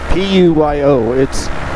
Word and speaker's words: Puyo: This right here is the little town of Fatima, and that over there is the town of Puyo, or Puyo, P-U-Y-O. Technically it's pronounced Puyo, which is chicken.